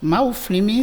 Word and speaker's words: Maouflemi: Maouflemi, c'est en 3 syllabes.